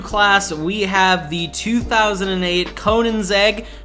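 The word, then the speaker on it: Koenigsegg: the 2008 conan's egg conan's egg i said it correctly if you guys watched my other best cars video that was just like a general for trying to get through your campaign races i said it wrong so there you go everyone the debate can be settled now it is conan's egg anyway the ccgt is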